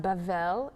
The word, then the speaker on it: Babel: and one land um babel babel pronounced bevell in hebrew is babylon the tower